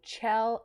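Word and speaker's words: Kjell: of the fire by chell eriksen it's spelled differently but i looked it up and then it's chill but it's spelled k-j-e-l-l and this uh police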